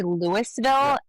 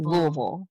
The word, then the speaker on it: Louisville: You can you can say you can say Louisville. You just cannot say you can't say Lewisville. But if you want to be correct, just say it like you have marshmallow in your mouth.